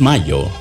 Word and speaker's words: Mallo: Y Laboratorios Mayo se escribe como gallo. LLO Laboratorios Mayo.